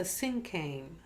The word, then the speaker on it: cinquain: we're going to take a look at the sinkhang that's spelled s or excuse me c-i-n-q-u-a-i-n it's a